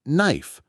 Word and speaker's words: knife: So, it's just no like no and knife like knife.